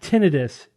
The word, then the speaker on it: tinnitus: not here's the thing it's not tinnitus because it's not inflammation of anything right it's not like appendicitis or laryngitis it's tinnitus tinnitus everyone gets it